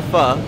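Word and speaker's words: Phở: you all probably know this is fur not pronounced though pronounced fur and it's a very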